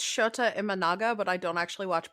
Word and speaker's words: Shota Imanaga: I'm assuming it's Shota Imanaga, but I don't actually watch baseball.